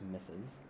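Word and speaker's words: Mrs.: mrs so m-r-s plus their last name it's pronounced misses for a married or unmarried woman common this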